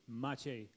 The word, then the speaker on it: Maciej: Ladies and gentlemen at home in the viewing audience, this is a gentleman whose nickname is Magic, because the correct pronunciation in Polish of his name is Maciej.